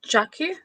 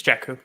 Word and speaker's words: Jakku: so amazing every time did i pronounce is it jackie yeah it's jakku once again this is